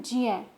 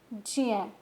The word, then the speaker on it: ज्ञ: ज्ञ ज्ञानी या ज्ञाता को हम ज्य और न्य से बोलते हैं। इसका शुद्ध उच्चारण है ज्य, ज्य।